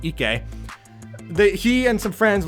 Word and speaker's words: Ike: just about how Ike, who for some reason I thought was pronounced Ike, but the anime pronounces it Ike, he and some friends